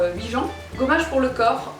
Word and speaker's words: Huygens: En plus, c'est une marque française, donc on devrait dire Huygens.